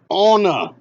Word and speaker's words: Anna: It's pronounced Anna.